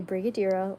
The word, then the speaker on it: Brigadeiro: it's called a brigo it is called a Brigadeiro let me explain what it is dessert Brig it looks like it's spelled like brigio what is brigo daro maybe